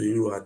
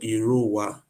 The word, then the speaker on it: Irowa: It was the British who don't know how to pronounce the name. They now call it Irua. The real name is called Irowa. Iruwa, yeah. Irowa.